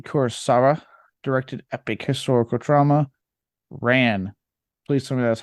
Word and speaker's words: Ran: It is Ran. Yes. Okay. I was like, this is too good to be true. There's no way. It's actually pronounced like Harakiri. It just looks like Ran.